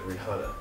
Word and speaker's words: Rihanna: R. I. H. A. N. N. A. Good. But you know the H is silent, right? It's silent? Silent. So instead of Rihanna, it would be Rihanna.